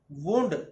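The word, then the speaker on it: wound: या फिर मैं इसको अगर रिलेट करूं, वुंड जख्म के लिए यूज किया जाता है, जिसको एज ए वर्ब यूज किया जाए, वुंड, वुंडेड, वुंडेड, ऐसे यूज किया जाएगा, ऐसा उसका प्रोनाउंसिएशन रहेगा।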